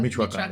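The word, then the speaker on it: Michoacán: to your family business, and don't tell me, Michoacan? How do you say that? Michoacan? Michoacan, yeah.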